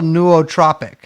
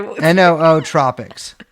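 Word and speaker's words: nootropic: It it's a it's like a it's a natural neuotropic apparently. What? Neuotropic. I'm sorry. Noo tropics.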